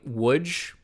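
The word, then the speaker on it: Łódź: which is not quite Woods which is here l-o-d-z pronounced woods but it is close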